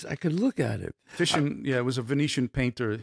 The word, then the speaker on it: Titian: Was it Titian? Titian.